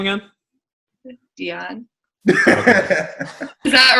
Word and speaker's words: Deion: How do you pronounce his name again? Dion.